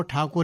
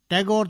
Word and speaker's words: ठाकुर: द्वारा ही कहते थे सारे बंगाल में गुरुदेव को ठाकुर ही बोलते हैं टैगोर तो अंग्रेजों ने बना दिया था उनको अपने उच्चारण के कारण कलकाता में उनके पुश्तैनी